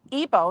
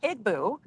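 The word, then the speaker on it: Igbo: So like I was saying Meldub is pronounced Ibo, not Ibu.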